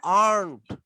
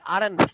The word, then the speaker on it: aren't: আমার সাথে বলো আর্নড। Aren't. আর্নড। And আমরা অনেকে বলি আরেন্ট, আরেন্ট, আরেন্ট, নো, আর্নড, আর্নড। Aren't.